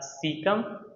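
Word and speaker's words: caecum: सबसे पहला है सिकम। ठीक है? आप इसको किस तरह से पढ़ोगे? सीकम। पहला पार्ट है हमारे पास सीकम। दूसरा है कॉलन, तीसरा है रेक्टम। ये रहा हमारे पास सीकम, कॉलन और रेक्टम।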